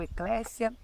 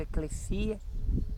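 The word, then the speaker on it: ἐκκλησία: ou eclésia, depende muito do grego koiné, ele pode ser pronunciado como eclésia e eclésia, porque nós não temos a pronúncia tão correta assim do grego, do Novo Testamento, o grego koiné. Então ela pode ser falada eclésia, eclesia, tá?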